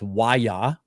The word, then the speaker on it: Waya: It's Waya is how you pronounce it. It's Waya Black.